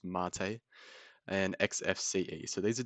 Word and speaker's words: MATE: website here so we've got cinnamon this is pronounced mate it's not mate it's actually a I believe it's a cocktail or something like that it's pronounced mate and xfce so these are different desktop environments